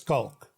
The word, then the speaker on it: Schalk: And so the way we pronounce it is the CH becomes a K, so it's Schalk.